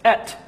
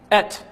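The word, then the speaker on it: את: And if you were to pronounce the Aleph and Tav, it's Et. Et.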